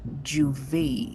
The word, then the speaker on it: juve: have me define is juve. So, we say Juve. We might have different pronunciations, and of course, the French speaking islands and French would, be better at pronouncing this.